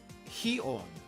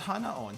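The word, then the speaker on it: 鼻音: to both of them heon not Hana on heon means nasal sound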